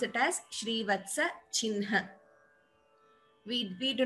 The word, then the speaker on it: चिह्न: We do not pronounce it the way we write, but these are only a few exceptions, like I told you.